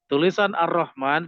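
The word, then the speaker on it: الرحمن: lebih panjang dari surah ar-rahman itu memang pendek tetapi bacanya panjang Makanya nanti harokatnya berdiri ar-rahman ini itu nanti dalam termasuk ya huruf yang tidak tertulis tapi terbaca Alif pada mimnya itu adalah termasuk huruf yang tidak tertulis tapi terbaca ya Jadi dipanjangan begitu ya yang gak usah dipanjangkan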